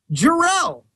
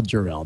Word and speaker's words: Jor-El: This one comes in Jor-El.